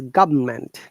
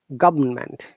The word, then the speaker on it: government: Okay, it's in British English is government. R is silent. Government. And American English, government. The T sounds like D because the T is after vowel sound.